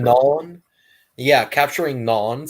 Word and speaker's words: Gnon: channel is capturing capturing gon if I if I'm pronouncing it correctly I think it's nun how isn't to be pronounced capture capturing non yeah capturing non spelled